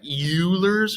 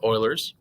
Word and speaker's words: Euler: something called euler's formula it looks like euler's or something like that but it's pronounced euler's anyways this old dead